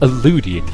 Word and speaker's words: illudium: before my Adeline alluded it's pronounced illudium you know this you've heard it stop getting it wrong you numpty there's still